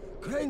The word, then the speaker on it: Crane: okay the video store crane rhymes with train and brain and sun and gray